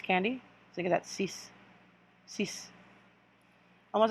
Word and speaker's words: six: to six so six it looks it's about just like six but it's pronounced like cease like cease you're gonna see it's candy look at that cease cease almost like you're